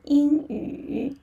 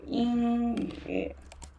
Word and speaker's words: 英语: Yeah, so 英语. Yeah, the character of 英语. And for the pinyin, yeah, so in actually here, Y is silent. and in, yeah, first tone, and also 鱼 yu,